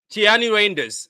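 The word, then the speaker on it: Tijjani Reijnders: So, how do we pronounce his name again? Is Tiani Rainders?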